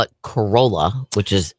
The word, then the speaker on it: Corolla: Corolla is That's a good way to put it. I always say Corolla is the town, Corolla is the car.